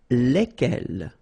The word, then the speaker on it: lesquels: And it will give you the pronunciation lesquels. All right, so final S is not pronounced.